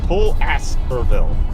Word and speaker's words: Placerville: It's pronounced Placerville. Pulassarville. Got it.